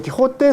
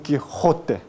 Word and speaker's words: Quijote: la jota ublar castellana no se dice Don Quijote sino tu Quijote esta parte es se llama la ula entonces